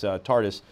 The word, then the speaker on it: TARDIS: So let's just recap one more time about this Tardis. Am I pronouncing it correct, by the way? Yes.